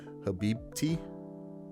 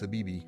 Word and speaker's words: Habibti: "Ice Man", then and I don't even know how it's pronounced properly, "Habibti"? I thought it was "Habibi", but "Habibti"?